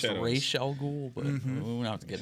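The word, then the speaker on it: Ra's al Ghul: daughter miles Garrett yeah his daughter yeah actually pronounced Rael ghoul but we have to get into that this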